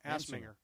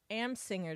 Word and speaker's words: Amsinger: we can have your friend from MLB Network, Grant Assminger. Amsinger.